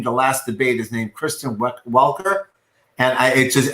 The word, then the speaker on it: Kristen Welker: and i it just everyone was pronouncing christian walker on tv freaking me out they were listening this slightly gently mispronouncing with like a canadian accent it sounds like christian walker that's hilarious that's fantastic